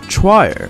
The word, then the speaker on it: choir: hard word for me if we just say this based on how it's spelled we would pronounce it as it would be pronounced choir try it because c h will often pronounced yeah but if that's actually quite quite quite wrong the correct pronunciation is choir to acquire choir what